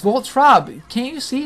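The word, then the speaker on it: Voltorb: It's Voltrob.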